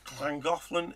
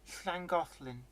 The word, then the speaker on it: Llangollen: don't you pronounce Llangollen? Llangollen if you're Welsh. and No, it's Llangollen not if you're clan.